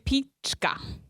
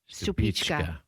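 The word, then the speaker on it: Stupice: So, how do you pronounce number five? The one from Czech Czech Republic. Stupichka. Stupichka.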